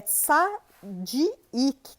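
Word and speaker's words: צדיק: O justo aqui no original hebraico é tsadik. T-S-A-D-D-I-Y-Q. É até difícil de pronunciar, né?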